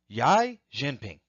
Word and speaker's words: Xi Jinping: President Trump meets with Chinese President Xi Jinping.